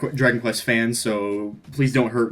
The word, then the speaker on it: Dragon Quest: So I think that if they're going to pick a Dragon Quest character, he's the one that makes the most sense.